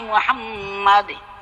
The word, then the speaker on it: মুহাম্মাদ: মোহাম্মদ টান হবে না।